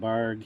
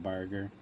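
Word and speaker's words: Bargue: Did you spell that right, or was it Barg? Yeah, Barg, not Barger.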